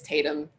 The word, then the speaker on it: Tatum: video about it and I got his name wrong it's Tatum I said tantum before it's wrong it's him Statham okay